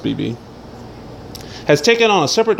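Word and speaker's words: BxB Hulk: fan favorite BB Hulk, BXB, but I've heard it's pronounced BB, has taken on a separate darker identity while acknowledging that he wrestles under both names.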